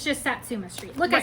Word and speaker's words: Satsuma Street: a Mill Hill kit but it's it's just Satsuma Street look I said it right Nina I said